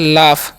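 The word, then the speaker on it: laugh: ए यूजी एफ है इसे हम पढ़ते हैं लाफ क्या पढ़ते हैं जी लाफ लाफ मतलब क्या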